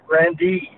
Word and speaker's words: Grande: well it it was the Grand D Ballroom Grande uh that's the way we pronounced it um the venue was a an